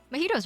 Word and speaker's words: mojito: a mojito um is is supposed to be a mojito but i like i just like to call it a magito because it's fun that way um majido komaida the